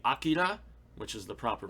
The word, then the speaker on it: Akira: from uh disney fantastic uh i would say akira which is the proper pronunciation everybody um oh boy vampire hunter d